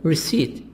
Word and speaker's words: receipt: did you buy it do you have their seat be silent receipt do you have the